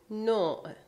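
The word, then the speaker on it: نوع: So another good example is the word no, no. Again, here you see the letter vav, but now it sounds like o.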